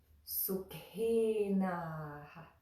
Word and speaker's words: Sukhinaḥ: only the consonant, but the puff of air with that consonant. So that word is Sukhinaḥ, Sukhinaḥ. There's just a little bit of a at the end.